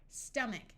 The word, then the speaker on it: stomach: stick an e there stomach note that in this word the O sounds like a short U character a says r